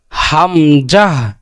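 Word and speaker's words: همزة: তারপর কি হামজাহ, হামজাহ। হামজার কোথা থেকে উচ্চারণ হবে? যে কণ্ঠনালীর শুরু থেকে, শুরু থেকে উচ্চারণ করতে হবে, একদম স্পষ্টভাবে, ক্লিয়ারভাবে। যেমন কি হামজাহ, হামজাহ।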